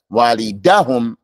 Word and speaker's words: والدهم: You don't put emphasis on the last letter. Walidahum, la walidahum.